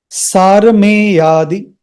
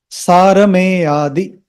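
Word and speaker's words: सारमेयादि: Om, Om, sārameyādi, sārameyādi. So there is a combination of two words, sārameya and ādi, sārameya and ādi.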